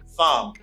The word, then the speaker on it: thumb: b consonant the b you do not pronounce that you say thumb it's thumb thumb and some country when